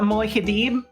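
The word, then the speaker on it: Muad'Dib: But yes, it is the Moihidib, I believe, is how you pronounce it in Arrakis.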